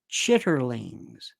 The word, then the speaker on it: chitterlings: By the way, chitlins are pronounced chitterlings, just so that you know this.